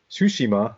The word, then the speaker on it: Tsushima: It's Ghost of Tsushima, not Tsushima.